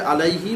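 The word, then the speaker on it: عليه: আইন জবর আ, লাম ইয়া জবর লাই, হাজের হি, আইন জবর আ, লাম ইয়া জবর লাই, হাজের হি, আলাইহি। উচ্চারণ হবে আলাইহি মানে কি?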